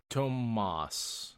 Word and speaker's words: Tomas: This Thomas, or is it Tomas? Tomas is how it's said in the audiobooks.